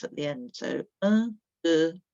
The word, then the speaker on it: deux: Deux, we've got an sound, haven't we? And an X that we don't pronounce. Deux.